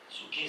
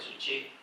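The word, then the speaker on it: ψυχή: El alma, en el griego es suche, suke se escribe, pero se dice suche.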